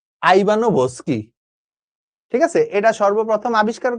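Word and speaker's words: Ivanovsky: কিন্তু এটা সর্বপ্রথম আবিষ্কার করেন হচ্ছে বিজ্ঞানী দ্বিমিত্রী আইবানসকি। আইবানোভসকি। ঠিক আছে? এটা সর্বপ্রথম আবিষ্কার করেন কে? বিজ্ঞানী আইবানোস্কি উচ্চারণ হয়। ভর এখানে ভি যেটা আছে ওটা উচ্চারণ হয় না। বাট ওরা দিছে আইবানো ভোস্কি।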